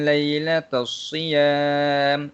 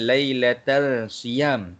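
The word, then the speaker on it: لَيْلَةَ الصِّيَامِ: Okey, bacaan dia ialah uhilla lakum lailatas siyam. Okey, baik, macam tu cara bacaan dia. Bukan lailatal siyam. Okey, kurang tepat bacaan tu. Bacaan yang betul je ialah lailatas siyam.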